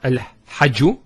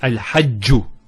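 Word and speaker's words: الحج: It's not al-hajju, it's al-hajju.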